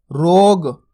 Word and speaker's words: रोग: तो गलत हो जाता अपन कैसे करेंगे लास्ट वाले अक्षर का उच्चारण रा मो की मात्रा रो ग रोग क्योंकि कई लोगों की गलती यहीं पर ही होती है इसको पूरा पढ़ जाते हैं तो शब्द गलत हो जाता है तो दोस्तों आपको